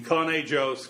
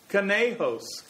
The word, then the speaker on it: Conejos: which crashed this morning in coney joe's county martha turn to me ed you've lived here in this state all your life where is canada joe's county i've never heard of it neither had i after some mental struggle i realized that the announcer must have meant conejose county but if we use